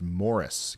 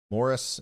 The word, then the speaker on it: Maurice: so your lucky day Maurice's pronounced Morris gotcha Morris uh Iowa just to